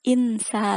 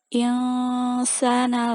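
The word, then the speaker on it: إِنْسَانَ: Terus insa, bukan insa, tapi insana lafi khusr.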